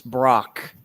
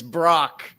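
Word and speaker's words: Brach's: It's because, no offense, Dave, but you mispronounced the last name. It's Brock. Brock. I spelled it. I I know, but it's Brock, now that I'm thinking about it, it's Brock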